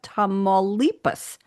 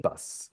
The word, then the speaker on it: Tamaulipas: We have Guanajuato, we have Michoacan, we have Nayarit, and we have Tamaulipas. I did it for you. Tamaulipas.